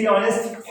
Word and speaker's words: honest: ऐसे कहते हैं कि एच के बाद वो आता है, जैसे HONEST ऑनेस्ट, HOUR आवर।